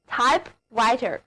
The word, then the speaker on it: typewriter: of 就表示有代表性的、典型的。因为 type 含有打字的意思，所以 type 的后面加上 writer 这个单词组成了 type writer。 write 是写字的写，所以 writer 就表示写东西的人或者物。那么跟在 type 这个打字的后面，从字面上看就是表示用来打字的这个东西，所以 typewriter 就是打字机。字母组合 WR 在这里读作日。现在我们用的打印机也可以用 typewriter 来表达，比方说 automatic typewriter， automatic typewriter 就是自动打印机，而那种喷墨打字机就叫做